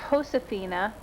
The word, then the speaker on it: Josefina: It begins with a J on the book, but because it's a Spanish name, it's pronounced Josefina.